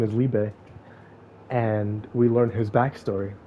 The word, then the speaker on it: Liebe: would kill him and this when she meets liebe is later after she she gave away Austin to dodge Village I thought I was saying his name wrong the entire time but no idea is it's Libre and so he he meets her and she